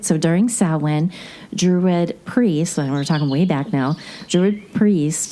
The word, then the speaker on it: Samhain: I've heard you both bring it up in the past, and it's actually spelled like, if I want to pronounce it how I'm reading it, Samhain. Yeah. But it's really called Samhain.